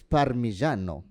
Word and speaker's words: Parmigiano: Okay, if you really want to say it correctly, it's Parmigiano.